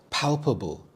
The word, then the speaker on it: palpable: Palpable. Palpable. The stress is on the first syllable. Pal. Palpable.